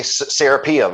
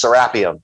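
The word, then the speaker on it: Serapeum: like the angle anglicanized pronunciation like you know Americans say serpium and when they say it over in Egypt it's serapium so I've just kind of I've just picked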